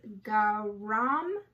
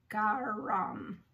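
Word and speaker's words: Gharaam: The next one is GHARAM. It is spelled G-H-A-R-A-A-M. GHARAM.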